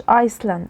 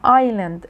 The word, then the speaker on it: island: The birds return to the island، وما اسمهاش Iceland، اسمها island، الاس is silent.